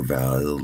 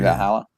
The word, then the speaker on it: Valhalla: I know where Vala is in Hyperore. Valhalla.